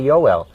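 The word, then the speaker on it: Joel: that are in germany when you see the word j-o-e-l joe l we would say they say yoel in german language today which th the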